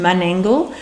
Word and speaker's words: Menangle: different to now and mangle was actually pronounced mangle and it meant swamp